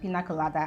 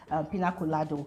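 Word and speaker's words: piña colada: housemate when they had mistakenly pronounced pina colada as pina colado.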